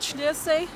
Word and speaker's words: Schliersee: Probably pronounce it Sliers or something in English if I didn't know what it is, but this is called Schliersee.